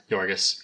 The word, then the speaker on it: Yorgos: Yorgos? Yeah. Yorgos.